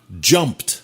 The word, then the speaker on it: jumped: Sauter, jump. jumped. Voilà. Alors, en P, ça va se transformer au participe passé ou au prétérit avec le son T.